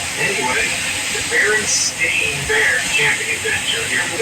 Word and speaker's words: Berenstain: I know for a fact that the Berenstain with an E, not an A. Actually, the most likely pronunciation would be Berenstain, since it was spelled the same way like Frankenstein.